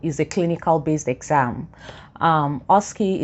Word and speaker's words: OSCE: a clinical based exam oski is spelt osce for those who have